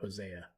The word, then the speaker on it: Hosea: Hosea.